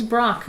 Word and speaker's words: Braque: They always say it like something like that. I'm saying his name is Brock, okay?